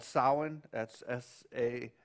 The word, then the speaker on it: Samhain: back to this uh Celtic um Day called sin that's sa a m Ha i n it's pronounced sin uh is it associated with a a Roman